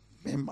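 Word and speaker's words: מם: Das spricht man nochmal Mem aus.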